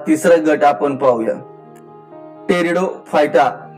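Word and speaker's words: Pteridophyta: तर आता या ठिकाणी यातील हा तिसरा गट आपण पाहूया, टेरिडोफायटा. पण स्पेलिंग लिहिताना तुम्ही पी सायलेंट या ठिकाणी वाचायचं, टेरिडोफायटा.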